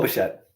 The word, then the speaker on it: Bichette: Bo Bichetta. But how do you say his last name? Bo Bichetta. On the Blue Jays. Oh, Bo Bichette.